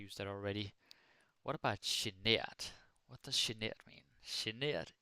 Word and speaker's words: genert: So now you probably notice genert is a little bit different in the whole pronunciation thing because it's like she, something in one of these fancy languages. But yeah, that is how we pronounce it.